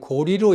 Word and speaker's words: 고려: 지금까지 두번 강의에서 고구리 고구려 는 고구리 로 읽어야 된다 고려는 고리로 읽어야 된다 하는 문제를 얘기했습니다 지금부터는